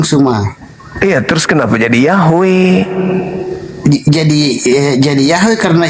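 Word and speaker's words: Yahweh: Bang Suma itu bukan pengucapan yang ee kurang tepat. Yang paling tepat pengucapannya itu Yahwe.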